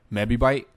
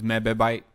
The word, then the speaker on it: mebibyte: I like to pronounce it mebibyte or mebibyte. I don't know, but it's not megabytes, it's mebibyte.